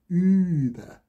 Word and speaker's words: Über: It's not pronounced Uber, it's Über, right?